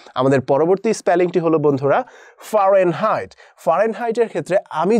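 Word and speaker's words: Fahrenheit: করে নিতে পারো যে ফারেনহাইট, ফারেনহাইট, কিন্তু সঠিক উচ্চারণ হচ্ছে ফারেনহাইট।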